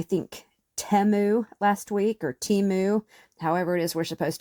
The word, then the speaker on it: Temu: I use whatever brands are cheapest at the moment, and this is what I found on, I think, Temu last week, or Temu, however it is we're supposed to say it now.